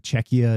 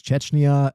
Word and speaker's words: Czechia: I kept mispronouncing Czechia as Chechnya, and that was like